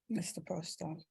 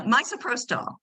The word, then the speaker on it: misoprostol: Mr. Protol. Actually, it's pronounced miso. I like miso because I like miso soup. No, misoprostol.